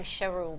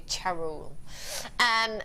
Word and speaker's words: Charul: Yes, I think I was saying Charul before, but it's actually Charul.